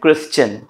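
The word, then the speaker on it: Christian: देते हैं डाइजेशन ठीक है तो डाइजेशन सजेशन क्रिश्चन और अगर आपको मुझ पर भी डाउट हो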